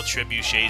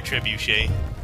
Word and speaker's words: trebuchet: teacher that used to call trebuchet truet truet and like like seriously would like it wasn't like a it wasn't a mispronunciation the sun it's not it wasn't a mispronunciation for the sake of Comedy it was just they were mispronouncing it and they a [